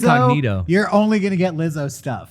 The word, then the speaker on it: Lizzo: jizzo song yep rumors you're saying it wrong it's lizzo i don't know if